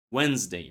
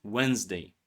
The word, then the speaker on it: Wednesday: in the middle of Wednesday right Wednesday. Of course only one D is silent in Wednesday right? Only first D is silent D in the word day Wednesday right is pronounced.